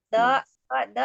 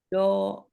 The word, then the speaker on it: ض: Ya, jadi kesalahan sering terjadi. Biasanya nanti itu kita akan mengubahnya dengan bunyi huruf dal. Biasanya itu. Kalau Umi mendekati huruf dal pengucapannya yang saya dengar. Do itu pakai ujung lidah ya. Dal itu menggunakan lidah ya. Jadi harusnya kita tidak dengan ujung lidah, tapi kita gunakan tepinya, gitu ya, tepinya. Do.